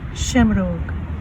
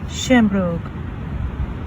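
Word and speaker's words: seamróg: In Irish is pronounced shamrogue, shamrogue, shamrogue.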